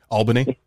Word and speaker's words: Albany: name it's a place al bimmy albany that's how you would pronounce that did you really i